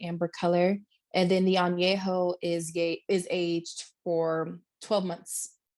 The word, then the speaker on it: añejo: Añejo.